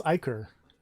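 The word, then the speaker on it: ichor: zyker from his weapon iker okay that's how you pronounce that i have never known that i always just said icker edwin i said it said icher too what the heck apparently it's icker his face masked in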